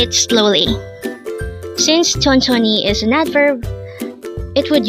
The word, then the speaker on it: 천천히: of that is tonon M again it is pronounced as tonon m sonon is a word for today